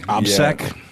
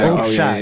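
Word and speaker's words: общак: Obsec? No, it's like an obshak. Obshak. It's obshak, which is like umbrella organization for moving money in a criminal way.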